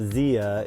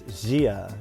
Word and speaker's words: Jia: Like I always called it Zia, but it's not Zia, it's Jia. It's like a Chinese word, so I'm learning.